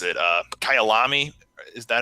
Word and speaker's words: Kyalami: Like, start off with how do you pronounce it? Kyalami.